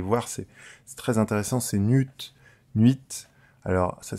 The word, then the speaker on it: nu1t: le follower aller voir c'est très intéressant c'est nude 8 alors ça s'écrit NU1 t voilà et vous allez voir